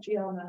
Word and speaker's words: Gianna: It's Diana, but it's pronounced Gianna, like Georgiana, Gianna, and Katrina.